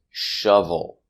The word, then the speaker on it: shovel: not nice and our last example is shovel making the short uh sound sh shovel he has